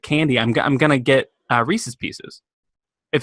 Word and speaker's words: Reese's Pieces: You mean Reese's Pieces? Well, we've had this conversation before. We're gonna have don't want to have it again today. It's not pronounced Rice's Pisces.